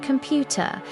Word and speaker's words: computer: important repeat important computer. Stress on second syllable computer.